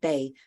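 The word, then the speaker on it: 哋: Okay, now if you're gonna make it plural, you just add the they, the low tone they.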